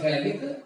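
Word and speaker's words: phthalic: अब थैलिक की जो स्पेलिंग है उसको देखना है थोड़ा सा, पीएच, इसका पीएच जो है वो साइलेंट है और फिर नेम इसका थैलिक एसिड। ठीक है, हम इसको थैलिक एसिड रीड करेंगे, आ गया, पीएच जो है साइलेंट रहेगा।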